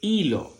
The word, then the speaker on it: hilo: La palabra hilo se escribe con la letra H y cuando la letra H está sola, que no tiene una C aquí delante, es muda. Por tanto, suena como suena la vocal.